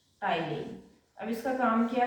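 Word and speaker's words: ptyalin: है सला अइले का टाइन टी साइलेंट इट्स टाइलन अब इसका काम क्या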